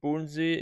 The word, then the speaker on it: Bodensee: So somewhere in this lake, there's a border between the Bodensee, in German it's pronounced Bodensee, in English Lake Constance, okay?